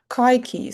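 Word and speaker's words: katjie: It's going to change to kaiki. So the pronunciation is also a little bit different.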